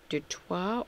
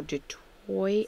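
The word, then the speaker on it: du Toit: a start now with Chantel dto or detroy as you pronounce it in South Africa yes with 105 on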